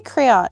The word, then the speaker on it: crayon: a crayon crayon okay it's like crayon an extra syllable just get rid of the oh no i don't